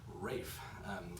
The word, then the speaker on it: Ralph: about him is that his first name looks like Ralph but it's pronounced Rafe and I'm not sure